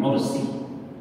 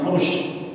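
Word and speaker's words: 'urs: membedakan dua undangan pertama undangan walimatul ursi bukan ursy kursi Pakai S pakai Sin karena di buku-buku di surat undang itu rata pakai sy itu tidak tepat sebab secara ejaan dia sin bukan syin walimatul URS atau ursi bukan ursyi ya itu secara ejaan yang tepat undangan resepsi pernikahan nah rata-rata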